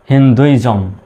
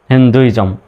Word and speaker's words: Hinduism: এখন জম লিখে দেব, হয়ে গেল হিন্দুইজম, হিন্দুইজম, হিন্দুইজম বা হিন্দুইজম।